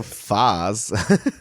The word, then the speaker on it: FaaS: FAS. Like it's FAS. You know, like the ice cream Häagen-Dazs. It's FAS.